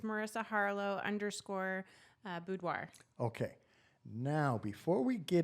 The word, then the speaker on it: boudoir: it's strikingly fascinating to me but it's it's boudoir did I say it right yes boudoir photography mm-hmm so what is the name of